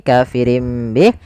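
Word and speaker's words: كَافِرِينَ بِهِ: Bih awalnya kafirin Bih karena dia ganti suara nunnya kafirin Bih diganti dengan huruf mim kemudian ketika kita melafalkan ini kafirim Bih itu sebenarnya ada dua cara baca yang pertama dengan idbaq yang kedua dengan suada furjah tapi kita mengambil yang idbaq saja yaitu bibir kita tertutup dengan rapat kafirim Bih kemudian dan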